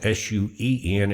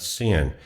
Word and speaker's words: Suen: when it says sin here, but it's it's spelled s ue n and it's a short for two words and it's pronounced suen, not sin.